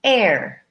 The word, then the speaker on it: heir: one e I are in this case we say air air it sounds very much like the air we breathe but that's spelled differently